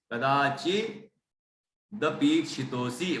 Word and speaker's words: कदाचिदपीक्षितोऽसि: स्वप्नांतरेपि न कदाचिद, कदाचिद, कदाचिदपीक्षितोऽसि, कदाचिद अपेक्षितोसी, कदाचित दपीक्षितोसी मतलब द का उच्चारण में ज्यादा जाएगा पी के साथ, कदाचिद अपेक्षितोसी।